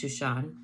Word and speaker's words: Shushan: Esther and Mordecai were living in the royal city of Susa, Hebrew pronounced Shushan.